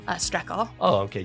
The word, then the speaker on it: Strekal: your last name uh stle oh okay just how it looks just like shle yep um dude thanks